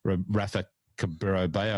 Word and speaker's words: Rafa Cabrera-Bello: to move and make something happen for poor Rafa Cabrera-Bello, and I'm glad I got the pronunciation right.